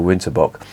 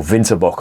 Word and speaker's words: Winterbock: just reviewed the bitburger winterbox or winterbock I should say if I'm going to pronounce it properly in German that was seven percent